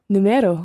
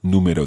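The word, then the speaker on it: número: the spelling of numero there's an accent on the year yeah because otherwise it would be numero numero which is wrong again so Tu numero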